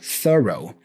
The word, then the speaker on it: thorough: it sounds so beautiful thorough thorough th row okay we have a schw sound here at the beginning th th and a voice less th th and then we go row row thorough thorough so when you are